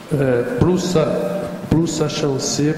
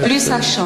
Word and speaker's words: plus ça change: A professora Mariana não ia gostar muito da pronúncia. Changer, mas tudo bem, a gente entende. Plus ça change, change, plus c'est la même chose.